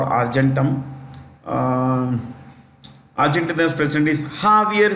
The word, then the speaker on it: Javier: Argentina uh or argentum um arent president is jaier m spelled j a v i e r Javier is the spelling but pronunciation is jaier j a v i e r Javier m